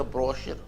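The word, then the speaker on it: brochure: उच्चारण सेट ब्रचर नहीं हम ब्रोचर बोलते थे एक आदमी बोला ब्रचर नहीं होता ब्रशचर ब्रश है ना पैराचूट पैराशूट होता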